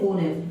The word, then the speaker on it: honest: अब ये spelling start तो एच से हो रही है, फिर भी मैं ओनेस्ट पढ़ रहा हूँ।